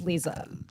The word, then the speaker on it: Liza: My name's Lisa. Yo. Whoa. Oh Whoa. fight. Mike. Damn. It's okay. It's spelled like Liza. It's fine. Everyone does it. My name's Lisa.